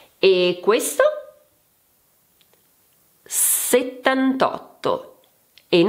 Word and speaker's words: settantotto: Settantotto and not settantaotto*.